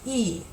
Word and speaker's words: y: In English, it's the letter Y, but the word and is pronounced E.